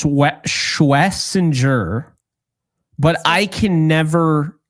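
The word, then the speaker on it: Schwesinger: Schwensinger? Like So Schwensinger? apparently it's Schwessinger, but I can never say that without slowing it down.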